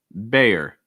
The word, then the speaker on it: Bayer: After that, Bayer. So again, A sound. Something that could be helpful with the A sound is opening your mouth wide and trying to raise that front of your tongue. Bayer.